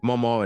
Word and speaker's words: Mama: My nieces and nephews call them Mama and Papa, pronounced like Momaw and Popaw, not Mama.